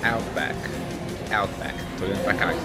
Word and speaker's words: Outback: Então, correta, a pronúncia correta é Outback.